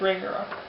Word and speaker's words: Ragnarok: It's Ragnarok.